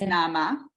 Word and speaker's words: Naama: So actually, my name, it has the namaste. So it's actually the way you pronounce it is Naama.